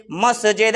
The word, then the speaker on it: মসজিদ: হলো কিরাহু ওই মতো আমি আপনি যে মসজিদ মসজিদ বলে চলে আসি মহিজ মহিজ বলে চলে আসি আরো কেয়ামত পর্যন্ত মহিজ মহিজ মহিজ বল কিন্তু এটা হলো কি খারাপ ভাষা তাহলে ভালো ভাষাটা হলো উচ্চারণী উচ্চারণ হলো কি মসজিদ মানে আল্লাহকে ডাকার জায়গা